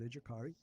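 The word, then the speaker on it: Educare: uh aari campus uh we do pronounce it aari it's from the uh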